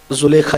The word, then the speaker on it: زلیخا: زلیخا، اصل تلفظ زلیخہ ہے لیکن کچھ لوگوں کو تھوڑا سا بار پڑتا ہے اس لیے زلیخا ہی کہتا ہوں.